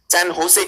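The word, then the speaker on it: San José: और Costa Rica की राजधानी है सैन जोस। हम कहेंगे भारतीय, वो लोग इसे सैन होसे कहते हैं। देखो वो ह की तरह प्रोनाउंस करते हैं क्योंकि स्पेनिश भाषा में।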